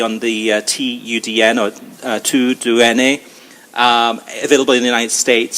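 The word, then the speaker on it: TUDN: is T UD n but the way you pronounce it is to do n a which is the Spanish translation of kind of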